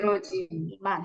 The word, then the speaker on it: 그렇지만: Di sini ada hiat ketemu sama ciet, maka dibacanya 그러지. 그렇지만.